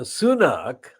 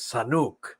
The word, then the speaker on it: Sunak: party and so on the sunnak was mispronounced by the understandably kind of mentally intellectually frail Joe Biden as Sanuk I think we have